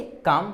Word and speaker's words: calm: यहाँ पे लिखा है CALM, इसे आप क्या पढ़ेंगे? काम। क्यों पढ़ेंगे? क्योंकि यहाँ पे मैंने लिखा है इसके पहले, तो यहाँ पे लास्ट में क्या है? M, और इसके पहले क्या है? आपका L है। तो ये आपका क्या हो जाएगा? L आपका साइलेंट हो जाएगा। इसे पे क्या पढ़ेंगे आप? काम पढ़ेंगे, ठीक है।